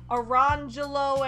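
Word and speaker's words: Orangejello: This discussion at the beginning of the chapter first introduces us to a set of twins named Orange Jello and Lemon Jello, which their silly parents pronounced Orangelo and Lemangelo.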